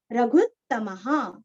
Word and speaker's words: रघुत्तमः: ख, पूर्ण, कौसल्येयो, कौसल्येयो, रघुत्तमः, रघुत्तमः, भू दीर्घ, उत्तम का त और म के आगे विसर्ग का उच्चारण ह अथवा हा, रघुत्तमः, रघुत्तमः, रामो दाशरथि